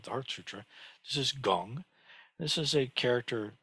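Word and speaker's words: 工: Pronunciation is gong.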